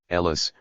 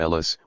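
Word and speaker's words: ELAS: Even the acronym ELIS, when pronounced, sounds like Hellas, or Greece, which gave that organization a powerful propaganda tool.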